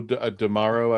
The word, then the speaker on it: D'Amaro: No, It rhymes with something tomorrow or yeah, it's Joe D'Amaro, I believe.